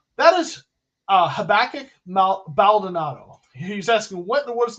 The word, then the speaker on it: Habakkuk Baldonado: the guy from Pittsburgh I only know that because habakkuk is a book in the Bible the Old Testament habakkuk baldonado so I can pronounce that one from years ago all